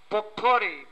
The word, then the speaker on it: potpourri: Potpourri, P-O-T-P-O-U-R-R-I, the T is silent.